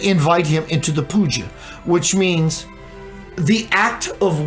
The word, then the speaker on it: puja: It's called puja.